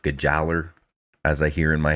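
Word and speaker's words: Gjallarhorn: ruin or it's uh gallahorn um actually it's pronounced geller as i hear in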